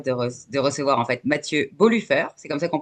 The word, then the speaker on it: Bolufer: Aujourd'hui, j'ai l'immense plaisir de recevoir en fait Mathieu Boluffer, c'est comme ça qu'on prononce? Bolufer, mais Bolufer si tu veux, ça sonne Ok, c'est mieux.